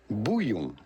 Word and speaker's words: bouillon: And I've been kind of experimenting with a couple different types of bouillon, however you pronounce that. In France, we would say bouillon.